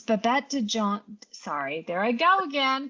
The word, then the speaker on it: Babette de Jongh: Babette de Jongh, and it's spelled D.